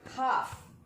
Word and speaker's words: half: See the fifth word, half. In this word half, what is the approximate sound? No, there is no approximate sound in half. Because though L is there, it is silent.